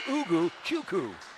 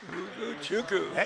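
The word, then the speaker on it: Ugochukwu: So it's spelled U-G-O-C-H-U-K-W-U. It's Ugu Chuku. Ugu Chuku.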